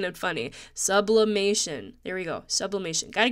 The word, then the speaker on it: sublimation: And let's see, 4th of July, you know, sublimination again. Sublimation. Oh my gosh, guys, I keep saying it wrong. My friend kept making fun of me, like saying it's not sublimination. So sublimation.